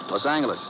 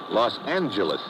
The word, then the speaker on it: Los Angeles: Later, we moved out to California, Los Angeles. Correction. Los Angeles. Oh, yeah. Soft G.